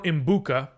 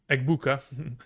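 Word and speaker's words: Egbuka: Would you trade Tracy for Imbuka? Eggbuka. It's interesting how how your auto correct kind of just butchered the name to Embuka.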